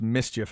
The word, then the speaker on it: MSCHF: So it's kind of a acronym, if you will, but it's pronounced Mischief, I guess.